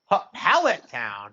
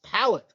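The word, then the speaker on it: Pallet Town: Howlet town. Wait, what? Powette. What? That's not how they What's powette? It's pallet.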